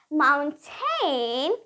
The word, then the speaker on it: mountain: glottal T so now Americans want to say Mountain instead what they will do they would they would say so they won't pronounce this T here let me just write so they won't say Mountain I made this cross here just because I wanted to mention that they won't pronounce their T so it's Mound um